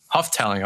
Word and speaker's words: Houghtaling: It's Houghtaling. Houghtaling.